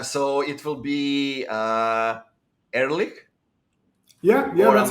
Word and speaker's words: Ehrlich: at guessing uh so it will be uh early yeah yeah that's how you pronounce it yeah it's early um did you ever see the show uh